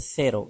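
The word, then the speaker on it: cero: एक से की तो से की आवाज ये तब देता है जब आई और ई से पहले ये आए मिसाल के तौर पर सेरो यहां पर ये ई से पहले आया तो यह है से की आवाज सेरो सिफर या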